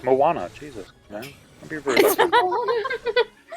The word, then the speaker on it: Moana: Mohana? Wow, alright. What? Don't worry about it. Hey, Why kill would you stealers! why would you say Trevor's name wrong? It's Moana.